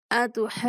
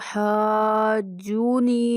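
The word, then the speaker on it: أتحاجوني: तो हाजूनी नहीं पढ़ना, नून के ऊपर भी शद है तो हम नून की शद को भी अदा करना है।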